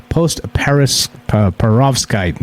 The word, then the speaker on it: post-perovskite: When it cools, bridgmanite forms into another material, a mineral called post-perovskite.